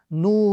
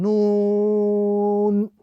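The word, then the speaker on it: نون: So the correct pronunciation of this letter is Noon. Again, as an individual letter with the prolongation. Noon.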